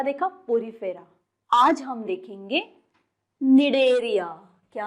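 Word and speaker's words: Cnidaria: क्यों बोल रहे हैं, स्निडेरिया क्यों नहीं बोल रहे हैं, क्योंकि यहाँ पे जो सी है यहाँ पे वो साइलेंट है, इसलिए प्रोनाउंस करते वक्त हम इसे कैसे प्रोनाउंस करेंगे? निडेरिया.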